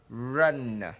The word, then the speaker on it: run: Cái âm r chúng ta phải chu cái môi mình ra. R, run, ok.